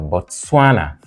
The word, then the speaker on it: Botswana: kivir third syllable therefore Botswana is different from the rest because whereas the rest are all stressed on the third syllable we mean primarily stressed on the third syllable bana is stressed on the second syllable what is this one